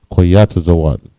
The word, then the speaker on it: koyatazawan: The word for that in Hebrew, right, is koyatazawan. Koyatazawan. Kwa, ya, taza, wa, and na, koyatazawan. All right, the next word we have up is vagabond.